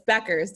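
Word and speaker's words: Bueckers: It's Buchers, right? It's Becker's. The U It is is actually Becker.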